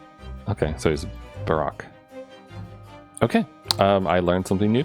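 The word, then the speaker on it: Barok: Baroque is the Dutch word for Baroque, and it's pronounced like Baroque. Okay, so he's Baroque.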